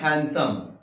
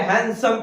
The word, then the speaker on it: handsome: ठीक है, हैंडसम पढ़ेंगे, हैंडसम मतलब सुंदर। ठीक है, पढ़ेंगे हैंडसम, HANDSOME, डी को हटा देंगे क्योंकि डी के बाद में एस है।